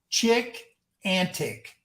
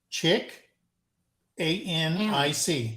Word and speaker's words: Chickanic: The channel's name is Chick Antic. No. Chick Antic. Chick, A-N-I-C. Chickanic.